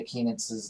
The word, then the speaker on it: Kienitz: to correctly pronounce Jessica Kienitz's name. Yeah, because the guys this weekend on the broadcast didn't get it. Well, the way she taught me was it's like peanuts. It's like peanuts with a K.